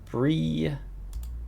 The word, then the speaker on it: Bri: But before I do, on top the clock, uh Bri sounds like Brie. Rhymes with Brie.